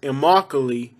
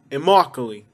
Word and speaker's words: Immokalee: in a trailer anyways the proper way of saying it is immokalee and i think it means my home say with me immokalee immokalee let it go one smooth thing you can't like separate all right this one